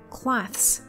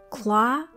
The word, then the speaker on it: cloths: 那加了 s 之后就变成复数啦，把 s 的 s 加上去变成 cloths， cloths。